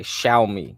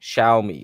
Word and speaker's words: Xiaomi: watch list is x i a c y xiaomi xiaomi okay shiai here this is how you spell it x i a o m i they